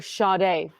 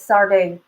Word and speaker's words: Sade: me goosebumps okay um I said her name wrong I'm sorry it's sard I'm sorry guys I